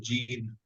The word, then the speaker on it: gene: What do we have to say about gene? About gene. Gene. So Gen, right? Gene. That's all. The E is silent, correct? Please. The E is always silent at the end, but it's making E say its name.